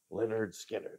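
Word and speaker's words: Lynyrd Skynyrd: right I have the debut from Leonard Skynyrd pronounced Leonard Skynyrd I think a not a great album title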